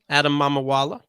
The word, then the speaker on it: Adam Mamawala: Adam Mamawala. Mhm. Really, it's not a tough name, just like you would pronounce it.